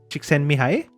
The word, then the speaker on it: Csikszentmihalyi: Really? That's how you pronounce it? Csikszentmihalyi?